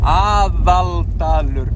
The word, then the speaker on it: Aðaldalur: Aðaldalur. What's that letter? It's E. You have to use your tongue. Like Aðaldalur.